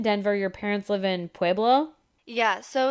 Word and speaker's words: Pueblo: Did I say that right? Pueblo? You say it very white, but sure. How do I not say it white? Tell me how to say it. My parents live in Pueblo. Pueblo. Yeah.